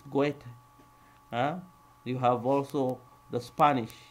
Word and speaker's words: Goethe: It's not even Goethe, it's Goethe.